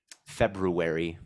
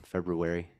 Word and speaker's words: February: February with an R. Bro pronounces the R. There's nothing. When have you ever heard of a silent R before?